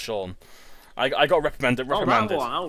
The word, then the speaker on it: Sion: I guessing what the ever see a spell si o n but it's pronounced Shawn I got recommend it round I got recommended